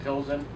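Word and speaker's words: Plzeň: beat the Russians to pleasent week we pronounce it Pilsen so they honored the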